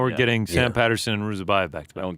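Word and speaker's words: Ruziboev: that card against Nursultan Ruzibiov. Did I get that right? I think I mispronounced his name. Ruzibiov? Who's to check? Ruzabayev. Ruzabayev. How did I screw that up?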